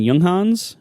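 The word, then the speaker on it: Junghans: I also want to mention uh German brand yunghans spelled jungin they they make an this wonderful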